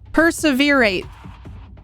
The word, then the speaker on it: perseverate: Perseverate. Why can't I speak? Perseverate. Nailed it. First time, first try. Dude, words are hard. Okay, sometimes, listen. Emphasis on the second syllable.